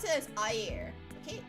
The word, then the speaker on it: air: So, for example, to say water, you pronounce it as air. Okay, A-Y-E-R is the pronunciation, but the spelling is A-I-R.